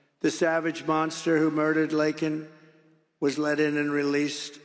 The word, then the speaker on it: Laken: And then he pronounced her name wrong. Remember, he called her Lincoln.